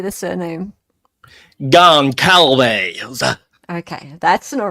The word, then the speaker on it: Goncalves: Goncalves.